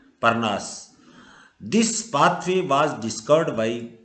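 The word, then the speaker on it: Parnas: Are silent रहेगा क्योंकि आर के बाद में वोवेल नहीं आ रहा है। नाउन के अंदर आ सकता है, सॉरी, परनास।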